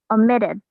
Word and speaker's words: omitted: that some t t the letter t the t sound also sounds like a d so there's your clue i'm giving clues right now so the word richard your word is omitted omitted omitted the directors